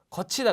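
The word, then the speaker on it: 걷히다: 거치다 그러죠, 거치다, 그죠? 거치다. 근데 여기서도 디귿이 치읒으로 발음은 났지만 그냥 디귿으로 쓴다라는 거죠.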